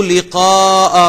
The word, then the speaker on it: لقاء: فمن كان يرجو لقاء ربه فمن كان يرجو لقاء ربه لقاء قاف کو انڈر لائن کر لیں, ہم لقاء کہتے ہیں, اسے تلفظ آپ نے ٹھیک کرنا ہے لقاء.